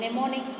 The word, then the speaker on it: mnemonics: நெமோனிக்ஸ் வந்து இப்படி தான் ப்ரொனவுன்ஸ் பண்ணணும். அதோட ஸ்பெல்லிங் பார்த்திங்க அப்படின்னா MNEMONICS. ஸோ இந்த மாதிரி தான் வந்து ஸ்பெல்லிங் வரும்.